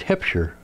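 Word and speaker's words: Huebscher: h e r and he spelled it h u e b which is pronounced hipshire so they found him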